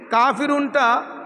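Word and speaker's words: كافرون: বলতে হবে হাল কাফিরুন এখানে কাফিরুনটা কাফের উপর খাড়া জবর এক আলিফ টেনে পড়তে হবে কাফিরুন কাফিরুন তাহলে বলতে হবে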